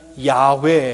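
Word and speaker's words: 야웨: 했구요 개역 성경은 여호와 라고 번역을 했습니다 요즘에는 야외 애라고 보 발음을 합니다 야외는 출애굽기 3장 14절에 서 나온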